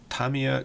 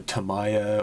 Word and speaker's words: Tamiya: Great video, great channel, and you pronounce Tamiya correctly. Yeah. People are always Tamiya or Tamaya, or I think those are the 2 I hear most.